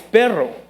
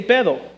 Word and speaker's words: perro: And so in Spanish, when you say dog, it's perro. There's a rolling R. Because they can't pronounce that, they say pedo.